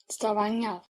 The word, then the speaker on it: Stavanger: Stavanger.